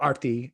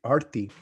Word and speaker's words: Arthy: So Arthy is not how like arty is kind of more how you say it.